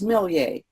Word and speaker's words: Millier: It's Millier. It has an extra I in there. And so if you ask for Dr. Miller, they're not going to know who you're talking about. It rhymes with Perrier, so it's Millier.